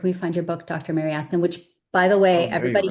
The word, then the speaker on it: Mariaskin: Mary Askin which by the way everybody here can call me Mary Ascin is uh four syllables Russian and not easy.